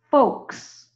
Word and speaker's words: folks: You have folks. F long O K, come back S. Folks. Remember, we don't pronounce that L.